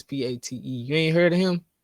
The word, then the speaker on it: Pate: that his name didn't pay I think it's p-a-t-e you ain't heard of him oh that's how